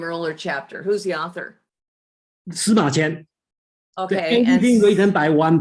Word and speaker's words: Sima Qian: Sima Qian. Sima Qian.